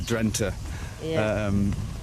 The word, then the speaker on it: Drenthe: it out so this is very typical uh drenta and you find a lot in the netherlands